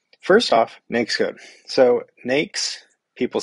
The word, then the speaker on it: NAICS: number of ways but I called it an xcode it's like a snake but you take the S off the beginning and you put it at the end makes um